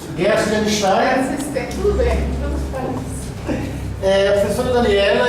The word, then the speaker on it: Guertzenstein: Para abrir este ano, nós convidamos a professora Daniela Gershenstein, assim pronuncia? Gershenstein.